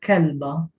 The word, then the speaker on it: kelba: If you had the word kelba, which means a female dog, you pronounce it with a B. Kelba.